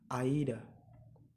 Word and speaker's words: either: either and neither, ya, or in other pronunciation it's either, right?